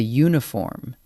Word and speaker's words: uniform: So it's a uniform, because uniform starts with a U sound, and a one-way street, because one sounds like it starts with a W.